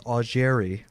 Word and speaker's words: Augeri: Then they got Steve Augeri. Oh, that's right. Whose name just happens to rhyme with Steve Perry.